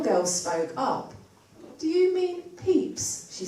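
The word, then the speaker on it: Pepys: name of the restoration Diary of Samuel peeps is not spelled like what it sounds but I didn't know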